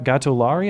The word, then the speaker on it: Gatollari: With me, I have Distractify senior editor and Milo Yiannopoulos critic, Mustafa Gatollari.